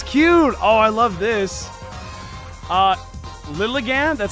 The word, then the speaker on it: Lilligant: Lilligant, that's how you pronounce it, is one of the prettiest Pokemon ever.